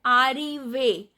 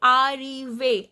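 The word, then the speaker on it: arrivé: Whenever you will see this accent on e, the pronunciation of e is like English e, a, that is a. So arrive. Otherwise the French e is pronounced as a.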